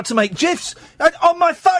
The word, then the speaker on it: GIFs: It's pronounced GIFs, not GIFs.